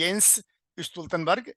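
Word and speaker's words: Jens Stoltenberg: है उनका नाम है यस स्तन बर्ग जे से लिखा जाता है यहां जे साइलेंट होता है जेनस स्तन बर्ग जो नेटो के चीफ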